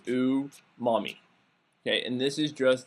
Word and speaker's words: umami: I'm sure I'm murdering the word because I don't speak Japanese, but from asking someone who is Japanese how to say it, the best way I could say it is it's pronounced umami.